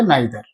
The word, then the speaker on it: neither: নয় এমন বোঝাতে হবে নাইদার অনেকে নিদার উচ্চারণ করে নিদার তাহলে নাইদার বা নিদার এ নয় ও নয়